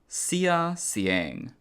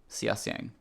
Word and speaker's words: Xia Xiang: Pronounced Xia Xiang. Okay, Xia Xiang.